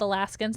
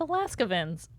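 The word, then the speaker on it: Alaskavans: oh my gosh Jamie this whole time I thought they were called alaskans they're called Alaska vins oh my gosh we've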